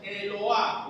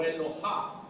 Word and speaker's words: Eloah: Una segunda palabra que significa Dios igualito es Eloah o Elohá. La H en hebreo es J, como en todos los idiomas menos en castellano. La H es J.